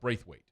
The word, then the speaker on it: Braithwaite: It's Braithwaite.